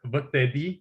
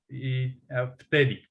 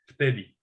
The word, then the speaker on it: vtedy: for example, word vtedy, it's written with v, like vt vtedy, and means like back then. And but we don't pronounce it vtedy because it's hard to pronounce. We pronounce it vtedy, like with f, vtedy.